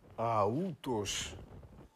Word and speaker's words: αυτός: Η αρχαία προφορά όμως του αυτός, όπως την έχω γράψει εδώ και την αποδίδουν οι ξένοι, είναι αούτος. Αούτος, διότι το ύψιλον προφέρεται ου.